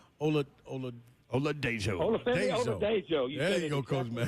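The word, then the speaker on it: Oladejo: Ola Dejo.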